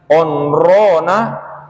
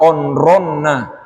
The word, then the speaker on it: onrona: Ingat sekali lagi, onrona sama tulisannya dengan onronna. Tapi bacanya di sini bukan onronna, tapi onrona.